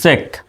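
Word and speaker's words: cheque: মত উচ্চারণ যেমন এখানে কিন্তু শব্দের শেষে কিউ ইউ আছে দেখেন কিউ ইউ ই তো প্রথমে আছে সি এইচ সি এইচ তে কিসের মত উচ্চারণ হয় আমরা জানি সি এইচ তে চ হয় তো সি এইচ তে আমরা লিখলাম চ ই তে ইকার হয় ইকার দিলাম শব্দের শেষে কিউ ইউ ই থাকলে কিসের মত হয় ক এর মত হয় উচ্চারণ শুধু আমরা দিলাম ক তাহলে হয়ে গেল কি চেক তো এই চেকের বাংলা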